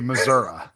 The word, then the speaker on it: Missouri: So, only people that are actually from Missouri say Missoura.